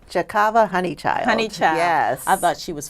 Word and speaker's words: Honeychild: Am I pronouncing her name correctly? Chikava Honeychild. Honeychild.